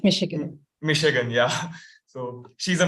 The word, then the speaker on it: Michigan: She has been certified in public speaking and effective writing skills from University of I don't know how to pronounce it, but Michigan. It's Michigan.